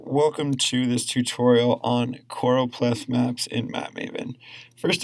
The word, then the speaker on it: Choropleth: First and foremost, the word is Choropleth, Choropleth, a little bit of a tongue twister. But what is it? A Choropleth map, and the definition